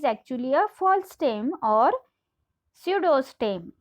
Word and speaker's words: pseudostem: a false stem or pseudostem. Here P is silent in this word, so you are going to read this word as pseudostem.